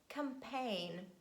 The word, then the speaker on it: campaign: is letter g and letter g silent at the end of words when it's followed by letter n and we say design align sign boring rain campaign but please make sure